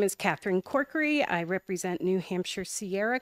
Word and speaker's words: Corkery: It's Corkery. If you think County Cork and County Curry, Corkery.